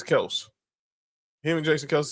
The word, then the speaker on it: Kelce: old boy that just told everybody how to pronounce his name, huh? Yeah. Like how everyone kept saying people still say Travis Kelce, but he says it's Kelse.